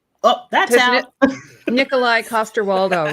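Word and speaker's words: Nikolaj Coster-Waldau: Nikolai Costaldo, right? Um, yes. Nikolai Costaldo. Yes. I I for ages I got his name wrong. I was like someone's like, "Would you Hello. I think I said Nicolage."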